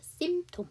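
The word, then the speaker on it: symptom: 그렇지 심 원래는 심인데 그것도 mpt 때문에 두 번째 피 발음을 안 하죠 그래서 심텀 이렇게 되는 거죠 자 오늘 진도는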